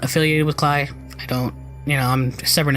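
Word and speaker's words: Klei: I looked up how to pronounce the name because I'm really bad at pronouncing names. Clyde.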